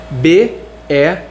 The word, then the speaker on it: bear: Por exemplo, vou pegar a palavra urso, ela se escreve B-E-A-R, se pronuncia bear, e barba se escreve exatamente igual urso, só que com um D no final.